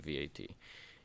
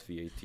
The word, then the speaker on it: VAT: you will see that if you pronounce it as one word it sounds like what because that's usually what your reaction is when you start exploring vat it's usually pretty hard